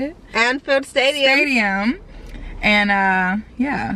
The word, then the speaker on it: Anfield: go to anfield that's how you say it anfield stadium stadium and uh yeah so now we